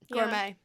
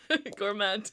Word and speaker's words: gourmet: Gourmet. Gourmet. Is that yeah, the silent T in gourmet, that always gets me.